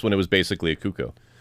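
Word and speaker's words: Cucco: Yeah, in this one it was basically a cuckoo. Um, a cuckoo. How do we pronounce that?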